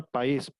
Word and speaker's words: país: Aquí, por ejemplo, la palabra país se divide en dos sílabas, pa, is. ¿Por qué? Porque va acentuada la i. Entonces ahí ya se forman dos sílabas, tiene que ver con los hiatos.